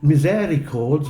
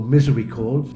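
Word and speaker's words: misericords: and South chancel wall two of the miseri cords or misery cords it's weird the French pronounced them misery cords and we miseri cords to the north North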